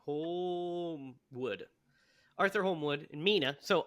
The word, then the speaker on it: Holmwood: So we're introduced to our other supporting character, Arthur how's he pronounce his name? Holmwood.